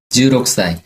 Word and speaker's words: 16歳: 16歳 그쵸. 이렇게 선생님처럼 16살 약하게 K를 발음해 주시면 더 예쁠 것 같아요.